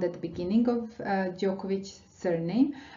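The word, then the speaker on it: Đoković: at the beginning of Djokovic's surname, sound Ć, but we are talking about this sound at the end of the word here, Ć, Djokovic. And this ending ich is typical for Serbian surnames, and this is the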